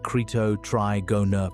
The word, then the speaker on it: Cretotrigona: They named it Cretotrigona prisca, pronounced creeto trigona prisca, and it dates to the last stretch of the Cretaceous, roughly 70 to 66 million years ago.